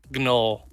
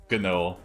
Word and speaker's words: Gnoll: Spelled with a G, and the computer does not. It wants me to spell check it. Gnoll. Gnoll. Oh, is it like a gnome? No.